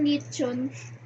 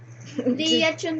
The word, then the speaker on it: Leon: 'yung Nung una hindi ko alam yung pronunciation tinawag ko siyang lechon. Leon pala yun naopen tuloy siya.